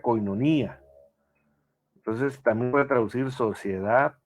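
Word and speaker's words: κοινωνία: La palabra comunión viene del griego 28:42, se pronuncia koinonía, entonces también puede traducir sociedad, participación.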